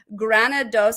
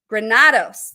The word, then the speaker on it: Granados: So I'm so excited to introduce you to her, as well as Kirsten Granados. And I'm sure, Granados. That's how you say it. And I said it incorrectly the first time, but I'm going to get it right throughout the show.